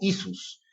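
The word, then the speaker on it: Ἰησοῦς: En el griego, hemos visto que el nombre del Señor Jesús se pronuncia como Isus, y los mesiánicos y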